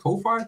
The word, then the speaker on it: Ko-fi: I would pronounce it Ko-Fi, coffee.